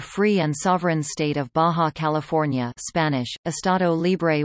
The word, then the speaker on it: Baja California: Baja California, Spanish pronunciation, Baxa California, listen, English, Lower California. Officially the free and sovereign state of Baja California, Spanish, Estado Libre y Soberano de Baja California, is a state in Mexico.